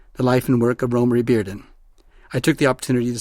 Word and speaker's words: Romare Bearden: In this episode, I speak with art historian Mary Schmidt Campbell about the artist Romare Bearden. Romare Bearden, and yes, that is how his name is pronounced, was born in 1911 and died in 1988.